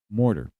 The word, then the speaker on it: mortar: And one example of this is for instance this word mortar. Mortar. You have the R plus a T and then it finishes with the vowel sound at the end.